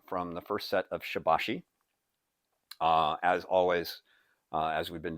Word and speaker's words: Shibashi: Some were arguing that the actual pronunciation is closer to Shur Bashur. But the three times that I've been introduced to this particular set, or this approach to Qigong, each of the three instructors pronounced it Shibashi, and most of the stuff you find out there on the internet, and it's on the internet, so it has to be correct, right? Use the pronunciation Shibashi.